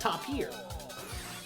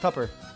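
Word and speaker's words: tapir: Oh, I thought that was pronounced top here. Nice. Tupper. It's pronounced Tupper.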